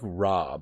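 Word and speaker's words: Raab: whose name is Don Dominick robb but that's spelled RA a B it's a pretty common name Dominick Robb and he told Parliament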